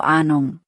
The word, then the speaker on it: Ahnung: ' Ahnung' को लंबे A और नरम H के साथ बोला जाता है, तो ' Ahnung'।